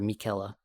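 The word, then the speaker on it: Miquella: Mikuela. I have to pronounce it properly for all the people out there who who know.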